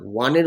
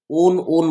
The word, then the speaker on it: won: আমরা generally উইনের third form কি জানি, ওন বলি আমরা, হি ওন the match, actually ওন বলে কোনো ওয়ার্ড হয় না, ডাব্লিউর উচ্চারণ সবসময় ওয়া হয়, তাহলে হি ওয়ান দ্য ম্যাচ।